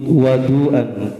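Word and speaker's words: وَضوء: Was, kalau wudu itu beda dengan wadu. Kalau wawunya dipatah maka artinya adalah air. Ya, makanya kalau bacanya itu harus benar-benar tahu. Kalau wudu kerjaannya wudu, kalau wadu berarti airnya.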